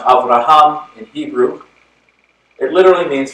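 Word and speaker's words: אברהם: tradition the Abrahamic faith traditions Oh Abraham is pronounced Avraham and Hebrew it literally means father of many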